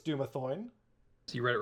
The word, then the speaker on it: Dumathoin: it's Dumathoin. So you read it wrong the first time. You know what happened? Alu mispronounced the characters.